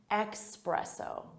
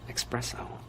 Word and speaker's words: espresso: Some native speakers will say it with an X sound. Espresso, espresso. Espresso, espresso, espresso. And it really bothers some other native speakers who know it should be espresso with an S sound.